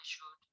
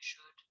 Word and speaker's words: should: I should, you should, he should, she should, it should, we should, they should. They all use should. We do not pronounce the L in the word should.